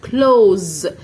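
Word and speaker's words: close: اللي هي كلمه كلو كلوز الاس ساوند هنا مش ننطقها س لا هنطق ز ز زي حرف الزد كلوز كلوز والاي في الاخر لا تنطق ده كان الصف الاول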